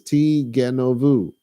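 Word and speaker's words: תִּגְנֹבוּ: So you start off with the negative article, lo, and then it says ti genovu. And yes, that is the proper pronunciation from the olden days.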